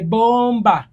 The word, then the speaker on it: bomber: boyfriend your love is a bomber teri ayogera kigambo suicide bomber nga byajogedde B is silent your love is a